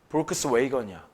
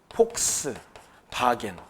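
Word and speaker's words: Volkswagen: 볼크스 웨이건이야. 볼크스 웨건. 그래서 영어 영어 미국에서 실제로 볼크스 웨건이라고 해. 볼크스 웨건. 근데 우리는 뭐라고 읽어? 폭스바겐.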